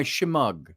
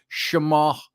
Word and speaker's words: shemagh: Hence, I'm wearing my shemagh, as they call it, or shemagh, if you want to pronounce the GH silently, shemagh, or it's my shemagh, my scarf.